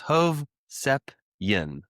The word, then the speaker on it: Hovsepian: Although the i at the end is pronounced like y i n. So it's three syllables. Hov sepian. That's the that's a little Yeah, that's like the Armenian. If it's Armenian. If you see I a n on the end of a last name, it's pretty much Armenian and it's pronounced Y I N.